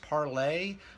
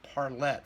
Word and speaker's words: Parlet: Now, it might be pronounced Parlay, but I've heard people in the P-Funk orbit, namely the son of one of these singers, and he pronounced it Parlette, from what I recall.